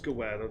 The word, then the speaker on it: Gawad: Gawad, your name is Gawad, the D is silent. The first one, anyway.